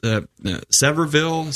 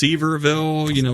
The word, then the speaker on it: Sevierville: It's Severville, Seaverville, Yep.